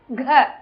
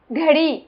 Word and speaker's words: घ: घ, घड़ी, घंटा, घमंड. GHA pronunciation. இந்த ரெண்டாவது லெட்டருக்கும் நாலாவது லெட்டருக்கும் பாத்தீங்கன்னா அந்த H சவுண்ட், அந்த அடி வயித்துல அந்த H சவுண்ட் நம்ம சொல்லணும்.